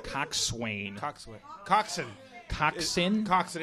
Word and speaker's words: coxswain: Coxswain. Coxswain. Coxswain? Coxswain. It's spelled coxswain, but it's coxswain. Coxswain. Like boatswain is bosun.